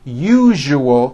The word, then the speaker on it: usual: to pronounce the word usual correctly break it up into three syllables you you oh that second syllable jus the one with the underline needs to be voiced put your hand on